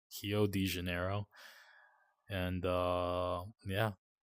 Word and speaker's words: Rio: their RS are spell pronounced with a h so it's actually hio hio de Janeiro and uh